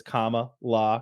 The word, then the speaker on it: Kamala: I know that it's Kamala because you like a comma punctuation point la, but Joe Biden says it the way I say it, and he's the one I've always listened to.